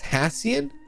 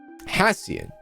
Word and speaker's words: Hassian: interesting that's how you say his name is hassian hassian he dated Pamela Tamala really I think he